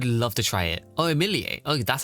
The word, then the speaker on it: Emilie: Oh, Emilier. Oh, that's how you pronounce her name.